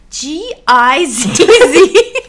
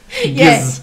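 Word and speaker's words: gizz: That's pronounced G-I-Z-Z. G. Yes. Giz. Yes. Exactly. Giz.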